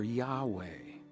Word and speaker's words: Yahweh: u a a e the vowels e a u a e and when we create those together as an intonation it literally becomes and you can hear Yahweh here's here's one other